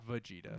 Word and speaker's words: Vegeta: Vegeta. Vegeta. Ah, okay. Can't even pronounce the names right, and he's Yeah.